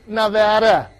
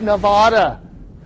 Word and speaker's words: Nevada: I actually like the way Paul Giamatti plays the professor in this film, but folks, it's pronounced Nevada, not Nevada.